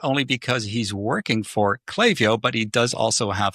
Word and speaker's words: Klaviyo: episode and today I have with me from Clavio as I've been told. I always pronounce it Clavia, but that's probably just because I'm here in Europe, but from Clavio we have James Fang.